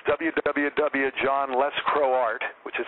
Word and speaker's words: Lescroart: yeah check out my website it's www John lescroart which is how my name is spelled even know you're pronouncing it perfectly Doug